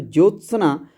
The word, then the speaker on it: ज्योत्सना: शुद्ध शब्द देखिए ज्योत्सना अगर हम इसको सही से प्रोनाउंस करें तो ज्योत्सना इसमें ज आधा ज आ रहा है त और आधा स